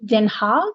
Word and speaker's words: Den Haag: He was from Den Haag, is that how you say it?